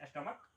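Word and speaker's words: stomach: जैसे स्टमक, STUMACH, अंत में CH है बट इसका उच्चारण क है, इसीलिए स्टमक S लगेगा।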